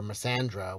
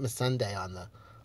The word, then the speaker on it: Missandei: She lost her fucking hairdresser, Missandei, or Missandra, whatever. They pronounce it Missandei on the show.